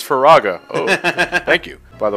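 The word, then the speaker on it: Firaga: yeah probably said it wrong neither neither neither stupid fool it's faraga oh thank you by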